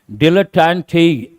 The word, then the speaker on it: dilettante: Dilettante. T-E is pronounced as te.